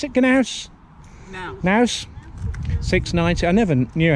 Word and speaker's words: Knaus: Is that how you pronounce it? Knaus? Knaus.